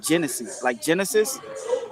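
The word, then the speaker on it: Génesis: to let y'all know, it's Hennessy like Genesis, but in Spanish it's pronounced Hennessy. It's Genesis. But y'all can just say Hennessy, man. Easy to pronounce it.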